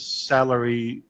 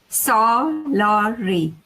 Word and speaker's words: Salari: is that your name salary just with an i is that how you say it my employees would love to have you every day or the salary yeah salari how do you say it salari salari okay okay sounds much better than salary right salary okay uh so